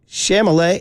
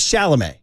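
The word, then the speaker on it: Chalamet: got his name wrong because the kid's name is Timothy sh shamal is it no his name is shalam well well be confused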